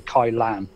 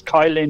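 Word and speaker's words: Kylin: I'm using the code everyone tells me it's the kai-lan but it's spelled k yl ym and me being English us : but anyway it's Kyle in or Kyle and I think it's band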